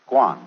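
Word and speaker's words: 觀: that means seeing and the whole character is pronounced Guan and it means a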